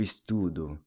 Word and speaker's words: estudo: I study, eu estudo. The O is pronounced U, as in nu.